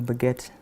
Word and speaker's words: baguette: to you shame me it's a bagette it's a baguette not baguet it's a